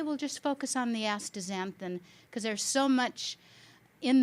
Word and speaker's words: astaxanthin: It's a little bit hard when people see the X in the middle of the word to understand how to say it, but if you just change that X to a Z, it flows nicely.